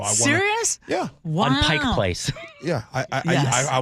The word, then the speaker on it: Pike Place: And you listeners, I think it was 2022 when I found out that there was no S on Pike's Place. So, I wanted You serious? Yeah. On Pike Place?